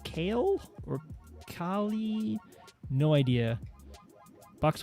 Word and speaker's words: Kailh: I think it's pronounced Kale or Kali. No idea. Box white keys. I think Cali is what I've heard people say. Cali. Yeah. Like Calico Cat. Because it's Kahli, right? Kailh.